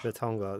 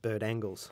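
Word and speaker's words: Bertangles: Yeah, we went there, and apparently the diggers used to call it Bert Angles because they couldn't say Bertongla. It's spelt the same, I think, as Bert Angles, but the French call it Bertongla.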